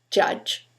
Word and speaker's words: judge: If you imagine that the letter U always sounds like U, as in put, you will mispronounce the two following words, judge and furious, because the letter U is sometimes U, many times A, and occasionally U.